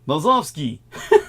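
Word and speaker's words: Nosovskij: in the Slavic language J is pronounced as a y in the Slavic language so it' be more like no yeah noski yeah like I said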